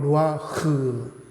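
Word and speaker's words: רוח: 히브리어로 루아흐, 그죠? 목에서 나오는 바람 소리와 같은 발음, 헬라어로는 푸뉴마, 푸할 때 이렇게 발음이 목에서 움직이는 공기라고 볼 수 있습니다.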